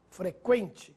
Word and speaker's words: frequente: atenção nestas palavras que frequente sequestro delinquente Agora sim você ouviu o som da letra U Veja a diferença no